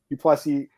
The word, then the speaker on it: Du Plessis: Du Plessis, the S is silent.